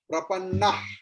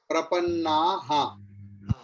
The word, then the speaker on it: प्रपन्नाः: And I told you विसर्ग की जगह अगर ये विसर्ग अंत में आएगा तो विसर्ग की जगह पर ह की प्रोनाउंसिएशन होगा। एवं त्रयी धर्मम अनुप्रपन्ना हा, प्रपन्ना नहीं, प्रपन्ना हा।